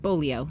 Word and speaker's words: Bolio: It's Every- known as I think- Bolio Place. Is that how you say it? Bolio.